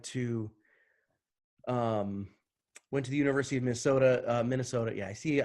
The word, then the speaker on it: Minnesota: I went to the University of Minnesota, Minnesota. Yeah, I see. I even say Minnesota like a Minnesotan, where I leave the N's out. It's Minnesota, right?